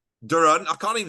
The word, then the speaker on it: Doron: be uh yeah um usually it's pronounced Duran but uh you can